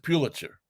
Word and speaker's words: Pulitzer: how do you pronounce that name? Joseph Pulitzer.